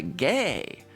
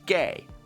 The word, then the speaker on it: Gay: Only that's not just a G, that's a gay. Pitman is based on syllables. A thick horizontal line with no other adornments is read in Pitman as gay.